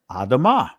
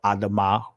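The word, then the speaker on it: אדמה: This is where you get the word Adam Ni, or Adam Nai, or Adamah Wanai. I'm saying it in ancient Hebrew, that last pronunciation.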